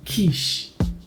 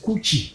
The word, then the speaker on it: quiche: He said it is pronounced quiche, not coochie.